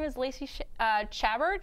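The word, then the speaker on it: Chabert: name is Lacy uh chabbert or shabar I don't know that yeah shabar I didn't know how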